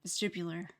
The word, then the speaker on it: vestibular: Yeah, vestibular. Yeah, that's how you pronounce it.